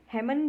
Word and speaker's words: hymn: इसका सही जो प्रोनाउंसिएशन है, उच्चारण है, वो होगा हिम। जो HYMN है वो है हिम।